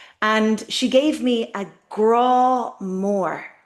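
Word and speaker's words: grá: And she gave me a grow more. Grow is love. Again, we have the father, the accent, stretching that word out.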